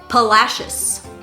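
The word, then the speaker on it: Palacios: texas is pronounced pernalis this word palacious this word is mahaya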